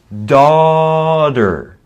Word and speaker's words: daughter: another important one um so the g is silent all right so it's daughter daughter in american english dirt you can also say daughter but that's a little formal and sounds weird right so daughter yeah it's a soft t for sure daughter it's a a